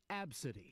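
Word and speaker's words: Abcde: The girl's name is spelled A-B-C-D-E, but it's pronounced Absidy.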